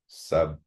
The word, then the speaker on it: Subrahmanya: Also known as Ganda, Subramanya, not soup. There's no P. Subrahmanya.